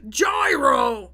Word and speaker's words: gyro: wait i need to how do you actually pronounce it gyro yeah i was right yet i was right